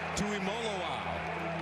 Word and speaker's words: Tuimoloau: Tuimoloau. It's Molo, like Rolo, folks. That's how they tell us to pronounce it.